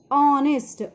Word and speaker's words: honest: This is, you have to pronounce this as, here H is silent, so you have to pronounce this as honest.